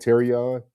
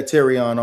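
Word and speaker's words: Terrion: You said Terion. Yeah, Terion Arnold.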